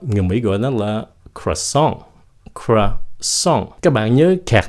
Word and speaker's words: croissant: Người Mỹ gọi nó là croissant.